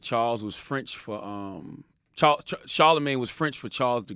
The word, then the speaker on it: Charlamagne: a cool last name Charlemagne but I just felt it wrong I supposed to do i pronounced it so instead of CH AR le it was CH AI la and then like the